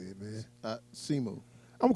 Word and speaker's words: Simu: Simu.